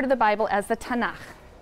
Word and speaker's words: Tanakh: also on that sheet tanak which is really the letters t n and um and they put little A's in there to make it easy to pronounce because is hard to pronounce so tanak okay um and this is